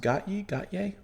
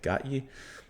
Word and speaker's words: Gotye: Today we're going to listen to, I believe it's pronounced Gotye. Not Kanye. Gotye.